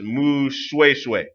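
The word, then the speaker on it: Moshoeshoe: from 1804 to 1870 monster show is pronounced Moo swaysway the founder of the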